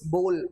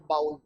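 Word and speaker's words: bowl: बाउल सही है बोल सही है, इट्स बोल नॉट बाउल, याद रखिएगा।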